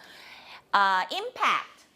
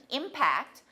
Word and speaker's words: impact: Impact. This is a noun here. Impact. If it's a verb, how do you say it? Yeah, impact. Impact. 2-2. Okay? If it's 2-1, impact, that's a noun.